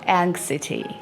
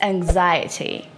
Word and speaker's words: anxiety: It's not anxiety. It's not anxiety. It's anxiety.